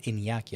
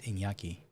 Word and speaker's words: Iñaki: It is pronounced Iñaki. I can see that little wiggly thing on top of the end, so I'm assuming it's Iñaki.